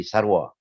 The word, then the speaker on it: sarwa: Sin ra waw dalam ejaan klasik bukan seru tapi sarwa.